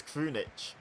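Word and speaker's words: Krunić: to say that says Krunic. Because I know that the C at the end of the sort of, Baltic names usually is pronounced like a ch. So I'm going to go with that's Krunic who's come on.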